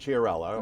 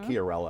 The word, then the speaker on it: Chiarella: so what we have vincent Chiarello or Chiarella i believe is the actual pronunciation of the name but his name has